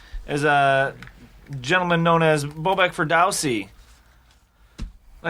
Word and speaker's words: Bobak Ferdowsi: That voice you're hearing, if you're tuning in, is a gentleman known as Bobak Ferdowsi.